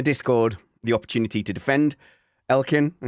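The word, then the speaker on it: Elkann: So in the chat, I said, I've given the Discord the opportunity to defend Elkin. I said, am I saying that right? Elkan, yeah. It said, does anyone you pronounce it like an Italian?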